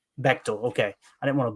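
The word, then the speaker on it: Beightol: And how do you pronounce his last name? Bechtel. Bechtel.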